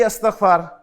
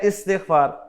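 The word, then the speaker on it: استغفار: हम इसे कहते हैं जी अस्तगफार, अस्तगफार, हालांकि यह है इस्तिगफार, और शायद इसलिए होता नहीं है। तो इस्तिगफार असल प्रोनाउंसिएशन है इसकी।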